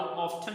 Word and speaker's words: often: अब एक American English का वर्ड है, एक मतलब प्रोनाउंसिएशन है, और एक जो है वो ब्रिटिश इंग्लिश की प्रोनाउंसिएशन है। सो हाउ ऑफन भी पढ़ सकते हैं और हाउ ऑफ्टन भी पढ़ सकते हैं।